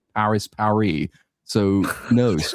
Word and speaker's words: Paris: Some of the chess in the French called Paris par. Yeah, that's actually how we pronounce it. We don't pronounce the S, dude.